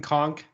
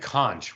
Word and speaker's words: conch: uh if I said conch would that make you remember if you had eaten it no okay magic conch uh it's pronounced conch in real life IRL SpongeBob lied to us oh um the people